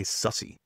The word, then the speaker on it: SUSE: Harvester is a modern open-source hypervisor built by Sussy. I think that's how they pronounce their name.